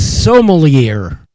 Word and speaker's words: sommelier: I'd appreciate it if you'd pronounce it correctly. It's sommelier.